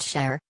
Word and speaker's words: Sar: One orbit around our Sun is called a Sar, pronounced Sher, like Enshi, by its inhabitants.